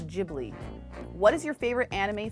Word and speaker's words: Ghibli: always say it wrong because it's GH which to me should be gibli should be gibl to me but then everyone's like no it's jibli what is your favorite